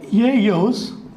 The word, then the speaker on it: ellos: So, E is pronounced as ye and double L is pronounced as y. So, ellos, ye, yas.